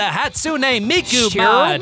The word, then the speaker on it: Hatsune Miku: it but everyone's dead alrighty that was the hatsune miku did i say that right weebs did i